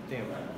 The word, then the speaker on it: tempo: First, how do you say tempo? Not tempo, but tempo.